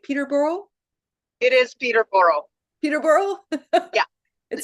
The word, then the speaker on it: Peterborough: It is Peterborough. Peterborough? Yeah. It sounds like I butchered it.